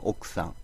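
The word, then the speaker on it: 奥さん: 그러니까 우리가 남의 부위는 옥상이라고 하지 않습니까? 근데 쓸 때는 옥후상이라고 쓰죠. 근데 사 앞에 쿠는 초금으로 발음을 해줘야 되니까 그래서 옥상이라고 발음을 해줘야 됩니다. 쓸 때는 옥구상이지만 발음할 때는 옥상.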